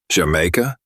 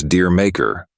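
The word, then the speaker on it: D'yer Mak'er: on man D maker I don't um Jamaica the title frequently mispronounced as deer maker or even D maker is actually meant to be pronounced J in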